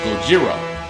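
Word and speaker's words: ゴジラ: original Japanese pron pronounce the original Japanese pronunciation of it was Gojira we say Godzilla but them is Gojira and in some of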